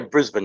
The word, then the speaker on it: Brisbane: Is that properly pronounced? Yeah, Brisbane.